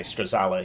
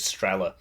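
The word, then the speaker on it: Strela: I like to say stala even though the the pronunciation of this is strella uh that's just how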